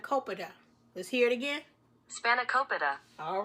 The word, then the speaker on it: Spanakopita: name for it so let me get the pronunciation correctly because I want to make sure I say it to you all correctly spanic Copa spanic Copa it's a it's a Greek um spinach pie